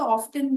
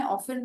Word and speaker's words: often: आप चाहें तो ऑफ्टन भी बोल सकते हैं। UK इंग्लिश में ऑफन होता है, और US में ऑफ्टन। अब नेक्स्ट वर्ड है वॉच, एज इन घड़ी, WATCH।